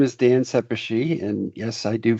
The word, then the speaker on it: Szepesi: Dan go ahead so my name is Dan seishi and yes I do spell it phonetically there so that you remember um